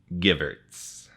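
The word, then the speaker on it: Gevirtz: So if you embarrassed yourself by saying his name wrong, then I'll make sure that I embarrass myself as well. It's Danny Givertz.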